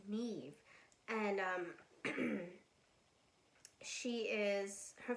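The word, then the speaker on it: Niamh: nine girl a woman named niam um sorry i said her name wrong her name's neve it's just it's spelled n-i-a-m-h but it's neve and um she is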